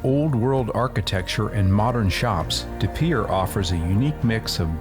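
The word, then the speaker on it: De Pere: scenic little town south of Green Bay called DePierre. Well, as always, I was pronouncing this name wrong. It's called DePierre, so here we go. DePierre, Wisconsin is a historic town along the Fox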